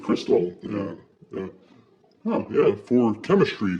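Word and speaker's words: Xtal: You know the Aphex Twin song, X Tall is actually pronounced Crystal.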